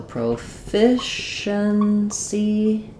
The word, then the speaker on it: proficiency: So, proficiency stress is on the f syllable. That means our first O, it may be proficiency or might be just proficiency with a schwah.